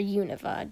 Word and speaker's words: Unova: So after we got the games, we made our own towns, and I named mine Unova, or Univa, depending on how you name it. Depending on how you say it, I mean.